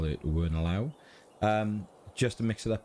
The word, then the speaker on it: Wernolau: Thank you very much for the pronunciation before, and I call it Wernolau.